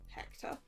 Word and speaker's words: Hector: Hector, your name rhymes with director.